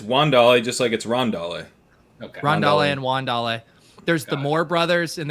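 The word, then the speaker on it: Wan'Dale: up with chris but it is in fact juan dale robinson and the rest of you are just flat out wrong that is also the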